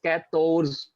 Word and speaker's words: quatorze: to sound 14, it's quatorze, Quatorze. to and z, quatorze, right? You have to put in three syllables, quator and z, quatorze, right?